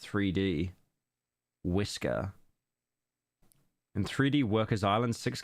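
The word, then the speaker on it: 3DWiSkr: is 3D workers Island but most of us prefer to use the file name pronounced 3D whisker in 3D workers Island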